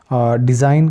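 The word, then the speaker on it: design: को रिजाइन कहते हैं डिजाइन किसी चीज का नमूना तो यहां पर भी एन से पहले जी आया तो जी साइलेंट हो गया इस तरीके से रेन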